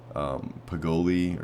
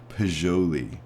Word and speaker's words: Poggioli: I think before I was pronouncing this Poggioli or something like that. It's actually Poggioli, I think is the proper pronunciation of it. So Poggioli, it's an Italian name of some sort.